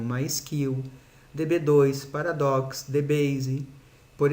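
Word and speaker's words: MySQL: oracle microsoft sql server sql que o mais correto é pronunciar como mais kill db2 paradox de base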